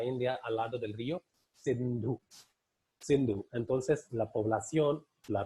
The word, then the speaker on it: Sindhu: hacia el lado occidental, ellos no podían pronunciar Sindhu, S-I-N-D-H-U. Este I para ellos no era pronunciable. Entonces, para llamar o para identificar la población que vivía hacia la parte oriental del río Sindhu, entonces les llamaban hindú.